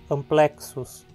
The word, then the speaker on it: amplexus: Agora vejam esse exemplo peculiar. Temos um X aqui. É uma letra só, mas ele é pronunciado como duas consoantes, K e S. E na hora de separar as sílabas, elas ficam separadas. A penúltima sílaba, portanto, é plec. Termina em consoante e a palavra é paroxítona, amplexus.